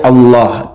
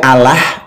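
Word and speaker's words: الله: Allah itu bacaan yang benarnya Allah. Dibaca tafkhim tebal. Kalau dibaca Allah itu beda lagi.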